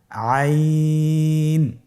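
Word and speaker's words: عين: আইন হরফটি উচ্চারণের সময় অবশ্যই 3 আলিফ টেনে পড়তে হবে এবং আইন হরফটি বারিক হরফ, পাতলা করে পড়তে হবে। আপনারা আমার সাথে বলুন আইন। আবার বলুন আইন।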